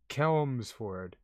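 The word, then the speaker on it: Chelmsford: wait wait wait helms for it so cahelmsford kelmsford all right quick quick wait chi chester chi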